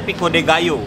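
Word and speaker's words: pico de gallo: Gayo Pico De Gayo itu tulisannya Pico De galo kan bacanya Pico De Gayo jadi Salsa yang dari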